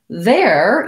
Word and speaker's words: there: air and then dare there even though it's spelled with ere has the same pronunciation it also has the air diphthong and this one has